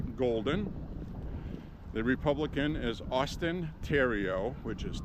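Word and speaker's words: Theriault: the Republican is Austin Tero which is t h t h e r i a u l t it's French in English it looks like theal but in French it's pronounced Theo because the H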